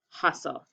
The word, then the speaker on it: hustle: it's an exception so cross it off and cross off the t and the e because all we hear is the l huss okay make